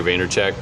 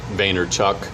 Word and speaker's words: Vaynerchuk: I want to talk a little bit about my experience with watching like people like Gary Vaynerchuk, or Vaynerchuk, I think is how you pronounce his name.